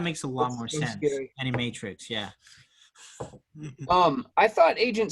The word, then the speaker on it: Animatrix: are like historical prequel things that's how you pronounce it that makes a lot more sense any matrix yeah um i thought agent smith's character took